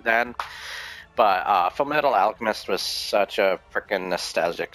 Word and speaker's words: Alchemist: Full Metal Alchemist um I used to pronounce it archist cuz I'm a dumbass I don't know why I was a dumb kid then but uh fil Metal Alchemist was such a freaking